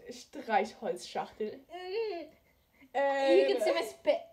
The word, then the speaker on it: Streichholzschachtel: It's pronounced Streichholzschachtel.